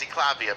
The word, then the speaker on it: Eklavya: My Indian name is Eklavya, by the way. Okay. I'll pronounce it for them. He means Eklavya, yeah, Eklavya.